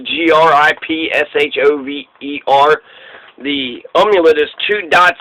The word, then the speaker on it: Gripshover: the O and so we say it's in English what it looks like an English grip shover but I think when you pronounce it in German it's like group Chava or something like that because when if you